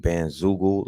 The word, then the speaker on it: Bandzoogle: BlackCloud.ent Bandzoogle, like Google. BlackCloud.ent.Bandzoogle, spelled like Google.